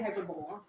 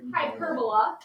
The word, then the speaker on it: hyperbola: So the shape of this graph is called a hyperbola. Don't say hyperbola. It's pronounced hyperbola.